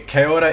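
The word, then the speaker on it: Caeora: Okay, Kaora is fantastic for tokens. It's spelled C-A-E-O-R-A.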